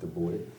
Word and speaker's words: Du Bois: Du Bois. Du Bois.